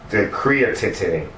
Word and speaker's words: creatinine: I'm going to be with you, and it's the creatinine. What is that? Mom producing what? How do you pronounce that?